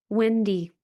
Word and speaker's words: Windy: Wendy. Her name is spelled like the wind, not like the fast food restaurant.